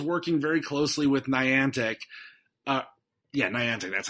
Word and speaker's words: Niantic: Niantic. That's how it's pronounced.